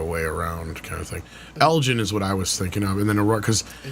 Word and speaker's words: Elgin: It's a hard G. It's not Elgin. It's Elgin.